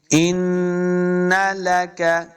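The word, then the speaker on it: إِنَّ لَكَ: ہیں۔ ان لک، ان، دیکھیں پھر نون مشدد ہے، تو ہم نے حمزہ کو نون کے ساتھ ملانا ہے اور غنہ بھی کریں گے۔ ان لک، اس کاف کو موٹا نہیں کریں گے، لک، ان لک، ان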